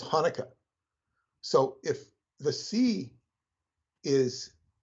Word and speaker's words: Hanukkah: will mispronounce Hanukkah as chanukkah because there's a CH and you the C is silent so it's Hanukkah so if the sea